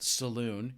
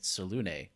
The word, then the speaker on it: Selune: We pitched a couple of different gods, and the one that you picked, I had always thought was pronounced Selune, like a cowboy would walk into.